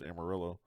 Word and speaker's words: Amarillo: girl couldn't even pronounce Amarillo. I mean, yes, I'm aware it's Spanish for yellow, but we don't call it Amarillo.